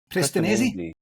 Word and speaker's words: Prestinenzi: David is also the co-author of the B2B Sales Playbook book with Luigi, I'm probably going to pronounce it wrong, please forgive me, Luigi, Prestinenzi. Prestinenzi.